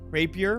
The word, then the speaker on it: rapier: I heard people call it raper before, but I don't know. I'm sure it's just rapier.